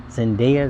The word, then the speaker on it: Zendaya: Zendaya, is how you say her name, the actress.